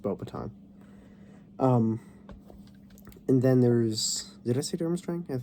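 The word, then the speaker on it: Beauxbatons: um Durham string and boba time yes it's pronounced bow baton um and then there's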